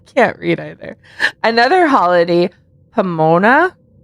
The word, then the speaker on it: Pomona: Another holiday, Pomona. Pomona, did I say that right? Yes, you did it.